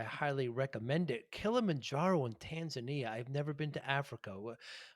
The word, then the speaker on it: Tanzania: landed in tanzania and they call it tanzania that's how the locals pronounce it and we took um